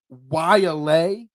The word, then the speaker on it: Waialae: As you phonetically spelled out for me before the show, Waialae Country Club in Honolulu. Not how it's spelled, but that's how it says.